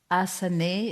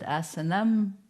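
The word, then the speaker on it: āsanam: words little more closely asanae is from the original asana which sometimes people pronounce asan but asanam would be the full form seat from us to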